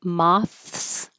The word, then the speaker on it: moths: However, with this as the um insect, I think moths. M the s is a z. We do say the th and it's voiced and it takes a lot of time to slow down.